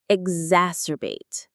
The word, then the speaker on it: exacerbate: Exacerbate. Exacerbate. The stress is on the second syllable.